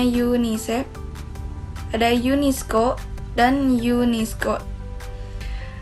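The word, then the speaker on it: UNICEF: C ya bagian C ada akronim dan singkatan bahasa asing yang tetap dilafalkan sesuai lafal aslinya contohnya di Yuni CV yang dibacanya yunisef ada Yun Isco dan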